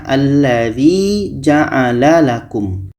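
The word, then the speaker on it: ٱلَّذِي جَعَلَ لَكُم: Maka ini tadi alif lam, kalau kita baca dari sini, ini bacanya alladzi ja'ala lakum. Alladzi ja'ala lakum. Karena tadi hamzah wasal yang terletak pada alif lam, alif ini berbaris di atas. Alladzi.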